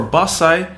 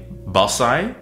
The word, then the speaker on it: Bassai: English so for basai there are three common pronunciations being basai basai and botsai the easy distinction is this when you hear the B it's Japanese when you hear the P it's Okinawan and when you hear pat'sai